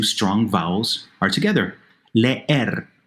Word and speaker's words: leer: Leer, to read, 2 syllables. They don't combine.